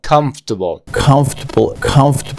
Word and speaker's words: comfortable: La O y la R desaparece y vamos a unirlo con el sonido. Comfortable.